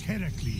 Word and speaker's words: Heracles: Phoenix, after boldly besting the Gorgon that ambushed Heracles.